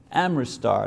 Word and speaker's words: Amritsar: The Golden Temple at Amritsar, I can't pronounce that word. Amritsar, that's it, Amritsar, houses the Holy Granth, which is the writings of Nanak.